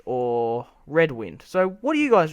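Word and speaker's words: Redwyne: of the audiobooks, but it's pronounced red wine.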